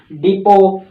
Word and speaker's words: depot: एक तो याद करवाता हूं प्रोनाउंसिएशन के लिए, प्रोनाउंसिएशन के लिए आपको इसको बोलना पड़ेगा डिपो, और एक स्पेलिंग के लिए आपको बोलना पड़ेगा डीपोट। ऐसे स्पेलिंग याद रखनी है,